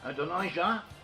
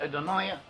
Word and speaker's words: Adonijah: Adonijah, as it's translated in English, in Hebrew it's pronounced as Adoniah.